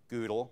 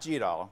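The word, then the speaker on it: GDAL: a pre-built image um goodle which is the proper way to say it because Frank told me that is the way to say it um not gll okay so Google we're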